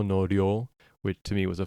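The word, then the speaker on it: 量: Ryo r y o with a long vowel.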